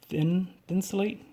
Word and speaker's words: Thinsulate: As you can, the tongue goes all the way up, and it is thinsulate. Thinsulate?